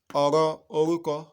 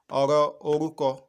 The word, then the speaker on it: ọ̀rọ̀ orúkọ: Ọ̀rọ̀ orúkọ. Can you pronounce that with me? Ọ̀rọ̀ orúkọ. Ọ̀rọ̀ orúkọ.